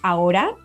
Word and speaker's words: ahora: Words like ahora, now, or albahaca, basil, they have a silent H right in the middle.